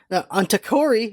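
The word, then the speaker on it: Tokkori: The show opens with a star wipe on Takori is how you pronounce his name, sleeping in his nest, and we see a farm of sheep that gets attacked by a giant octopus.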